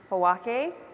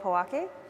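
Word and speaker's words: Pojoaque: that we are on the homelands of the Powake. Did I say it right? The Pueblo of Powake.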